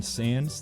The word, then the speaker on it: Sandys: does he had this why in his name and it's pronounced Sans yeah that's what I